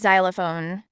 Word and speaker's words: xylophone: we can understand every words properly the correct pronunciation of this word is xylophone xylophone it's a musical instrument consisting of a